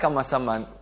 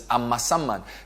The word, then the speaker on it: Amasaman: I like Amasaman for a reason, because I got the pronunciation of the name correct last week. So it's Amasaman.